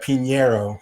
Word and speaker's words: Pinheiro: was making her ufc debut juana pinero yeah pinero thank you um you know she was making